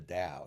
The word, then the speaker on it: Tao: what they called the Dow now when they talk about the Dow it sounds like a d but they they spell it Tao okay it really was